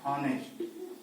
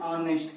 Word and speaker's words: honest: Example हमारा क्या है, हॉनेस्ट, ठीक है। अब इसमें क्या होता है, यच साइलेंट होता है और इसमें हम लोग जो उच्चारण करते हैं ऑनेस्ट पढ़ते हैं।